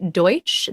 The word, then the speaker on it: Deutch: leah thompson and myself my name's zoe deutsch that's deutsch pronounced d-o-y t c h not to be confused with douche um yeah just wanted